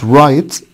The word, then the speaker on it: write: عندنا كلمة write الw silent.